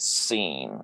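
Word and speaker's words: שׂין: That makes that Seen, pronounced like transliterated like this. Okay. But it looks, it's sometimes you see it like this, but that actually in English spells sin, but it's more like EE, it's like long E sound, seen.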